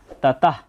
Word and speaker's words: ততঃ: প্রথমে দেখতে পাচ্ছি তাতাহ শব্দের শেষে যদি বিসর্গ থাকে তার জন্য অর্ধেক হ এর মত একটা সাউন্ড আসে তাই এখানে হবে তাতাহ ততর পর একটা হ